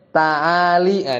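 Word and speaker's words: تعالي: dalam memahami bait syair taaliah di sini bacanya taali nih unik ya dari situ sebenarnya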